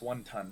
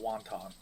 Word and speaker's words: Wanton: It's one ton, not wanton.